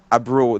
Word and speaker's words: Brühl: Frank Grillo, Paul Rudd, Tom Holland, William Hurt, and I can't pronounce this guy's last name, Daniel Brühl. Brule.